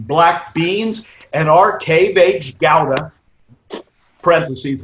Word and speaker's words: Gouda: beans and our cave h gowda parentheses that is the correct pronunciation in dutch not gouda organic best meal i